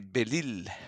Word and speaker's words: Belisle: In French, we say Belisle.